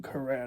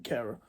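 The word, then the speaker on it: Kehrer: say his name now his career I don't know illegal commentator said it's I'm going to call him career now I keep calling him carer um yeah new signings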